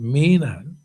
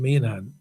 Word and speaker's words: Meghan: His Excellency Ambassador Kenton's ex-chance made a courtesy call on Her Excellency Catherine Meghan, pronounced Mainhan, and it says Meghan, but it's pronounced Mainhan, Ambassador of Belize to the Republic of China and Taiwan on June 4th.